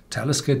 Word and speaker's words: Talisker: syllable and talisca is pronounced on the first syllable because this is not